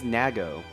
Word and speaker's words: Nago: Oh, the cat's Also, name do you- is Nago. Nago, Nago. as it's pronounced.